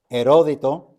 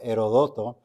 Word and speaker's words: Herodoto: derechos soberanos del monarca heródito o herodoto porque he visto en el internet que las dos pronunciaciones son correctas erótico o herodoto Sí